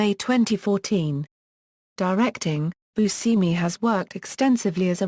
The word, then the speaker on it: Buscemi: Image: he pronounces his name as bʉʻsɛmi, but the Italian pronunciation is boo-SHEM-ee. He once said about the pronunciation of his name, "I had to go to Sicily to find out I pronounce my name wrong."